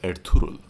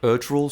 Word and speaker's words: Ertugrul: Up at number 13, we've got The Legend of Ertugrul. I think finally that's how it's pronounced, someone said it to me.